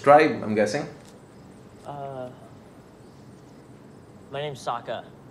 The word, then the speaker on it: Sokka: My name's Sokka. Rhymes with What?